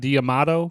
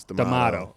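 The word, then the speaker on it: D'Amato: I just ask you how do you pronounce his name so I get it right it's not diato because it's got a d a Amato okay sorry go ahead so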